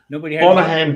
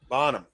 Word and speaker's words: Bonham: Is that how you say that, dude? Bonaham, or am I saying it wrong? No, there's no. It should be Bonaham. Bonham.